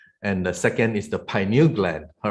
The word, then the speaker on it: pineal: And some people pronounce it as a pineal gland, but I would rather call it pineal gland because it takes after the name pine cone, all right?